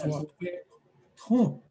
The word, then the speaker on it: Wahpeton: Well, I found out that's Wahpeton. The dictionaries that they put out, they spell that word Ton. Oh. Anybody who reads this is going to say ton.